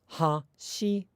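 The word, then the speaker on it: 走る: run in Japanese is hashiru, hashiru. But a lot of native English speakers, rather than fully articulating the ha at the beginning, because the accent in that is the shi, ha, shiru, will tend to say things like hashiru, hashiru.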